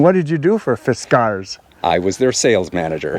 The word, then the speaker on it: Fiskars: do you say that it's pronounced fiskar not fiskars like a cute cat food and how do you